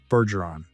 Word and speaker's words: Bergeron: Bergeron. That's soft G.